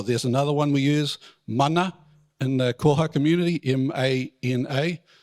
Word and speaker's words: Mana: Mighty word or there's another one we use Mana in the kojo community m-a-n-a take the m